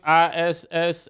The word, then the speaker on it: Issa: ISSA.